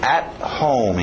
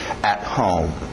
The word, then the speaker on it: at home: At home, engole o T. At home.